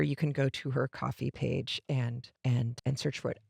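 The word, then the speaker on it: Ko-fi: It looks like Kofi, but I know it has to be pronounced coffee because their icon is a coffee mug.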